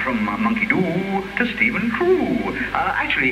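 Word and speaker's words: Trew: Meanwhile on, and from monkey do to Stephen Crew. Actually, it's rather nice. It's none of these cars that don't trust me, you see. They've done it in your funny phonetics again. Stephen, T-R-E-W, in brackets, pronounced T-R-O-O-O.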